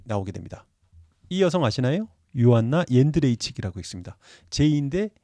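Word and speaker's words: Johanna: 유튜브 채널인 거 같아요 이분도 제이루 쓰지만 발음은 요로 한다라는 것 게르만 식으로 발음을 한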